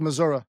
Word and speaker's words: Missouri: I believe it's pronounced Missouri.